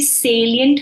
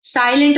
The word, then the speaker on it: salient: क्यों रहे हो आप इट्स नॉट साइलेंट okay it's सेलियंट so anybody knows the